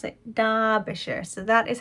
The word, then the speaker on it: Derbyshire: derbyshire if you're not from the uk but pronounced derbyshire or as i seem to always want to pronounce it dubisher so that is how i will be pronouncing